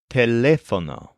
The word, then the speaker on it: teléfono: The word for phone or telephone is teléfono. It's pronounced a lot like telephone in English, but make sure to stress the second syllable, lef.